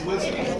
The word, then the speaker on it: wizen: I thought it was pronounced something different, but it's wizen.